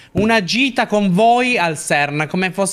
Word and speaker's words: CERN: L'hai pronunciato bene o hai pronunciato CERT? No, CERN.